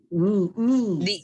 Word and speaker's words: knees: Knees. The K is silent.